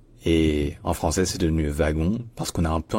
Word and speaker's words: wagon: de France parce fait on s'est inspiré du W allemand qui se prononce ve par contre en Belgique c'est devenu wagon wagon pourquoi en fait